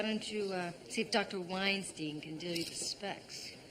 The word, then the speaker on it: Weinstein: That's Weinstein. Rhymes with fine.